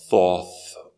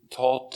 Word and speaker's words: Thoth: of thought uh taught some might accidentally pronounce it as a thoth or toe or toth it it thought is an egyptian god of all knowledge and wisdom there are